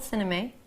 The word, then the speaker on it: sinamay: It's called sinamay. Well, that's how I pronounce it. Is that how you pronounce it? Sinamay, yeah. It's lovely.